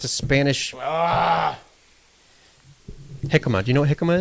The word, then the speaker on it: jicama: Tomato and diarbol dashi with jicama. That's a J. I know, it's Spanish. It's a Spanish Ah, jicama.